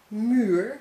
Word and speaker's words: muur: If you see double u, like in muur, which means wall, double u, you must pronounce as u.